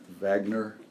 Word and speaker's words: Wagner: guys play I think I'll pronounce it properly Wagner Wagner since he's German he was a load